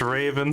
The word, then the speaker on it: Raven: that good time for another field trip it's pronounced Raven sir I'm pretty sure I earned that title